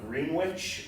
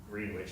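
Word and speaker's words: Greenwich: of one another one in the town of green witch which that's how they pronounced it green witch I learned that the hard way when I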